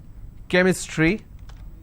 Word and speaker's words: chemistry: but when i have the word chemistry ch becomes cur sound so i say chemistry